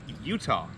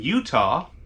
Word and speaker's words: Eutaw: a campground in alabama in utah yeah it's not spelled like utah it's like e-u-t-a-w or something like that yeah utah alabama which